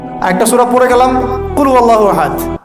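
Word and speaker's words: قُلْ هُوَ اللَّهُ أَحَدٌ: আরেকটা সূরা পড়ে গেলাম কুলহু আল্লাহু আহাদ কি কুলহু আল্লাহু আহাদ মানে কি এটা উচ্চারণই বা কেমন করে করতে হয় কুল বলুন হু আল্লাহু আহাদ তিনি আল্লাহ এক এই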